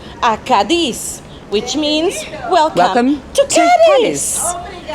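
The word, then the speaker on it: Cádiz: Although our captain and most people pronounce Kadis, the real name is Kadis.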